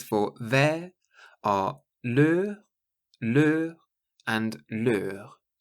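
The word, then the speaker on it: leurs: And the words for their are leur, and leur. So the plural just has an S on the end, but it's pronounced the same.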